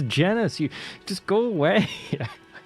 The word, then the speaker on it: genus: Who the pronounces it gayness? What the are you doing? Who are you? You're not a zoologologist. It's genus.